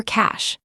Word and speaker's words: cache: This is where a third element of your financial security comes in: your cash. Cash, pronounced cash, is savings in addition to core capital or cushion.